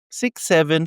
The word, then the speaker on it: 6 7: It's not even a word, it's the numeral 6 and 7, which is not to be pronounced 67, but 6 7.